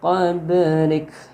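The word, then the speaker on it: قبلك: Min qablik. Ba-nya ini huruf ba mati itu qalqalah yang dibaca mantul. Yang ada di tengah-tengah berarti qalqalah sughra.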